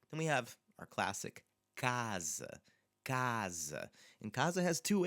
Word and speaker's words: casa: But that first A sounds very different than the second A. So casa, casa. Now that first A is our open, stressed, open A. Stressed because it's in the second to last syllable.